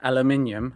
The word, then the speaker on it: aluminium: Aluminium and aluminum.